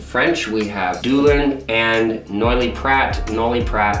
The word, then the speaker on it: Noilly Prat: We have Dulin and Noilly Prat, or French pronunciation, Noilly Prat.